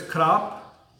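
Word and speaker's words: ครับ: saying you know but the word is cup and for women it's Chi sometimes men say to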